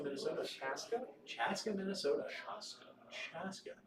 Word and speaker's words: Chaska: Chaska, Minnesota. Chaska? Chaska, Minnesota. Chaska. Chaska. Not Chanhassen. It almost sounds like Shasta. If you say it like Shasta.